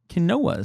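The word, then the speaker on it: quinoa: way to pronounce it that is the closest to the original Native American pronunciation kinoa sounds like a Pokemon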